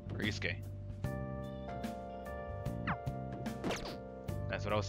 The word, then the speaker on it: Yusuke: Yusuke, not Yosuke. Yeah. Hey, it's me. I just pronounced it terribly.